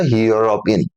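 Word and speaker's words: European: तो ये जो है इसका उच्चारण होगा यूरोपिन य से स्टार्ट होगा यूरोपिन रोप ठीक और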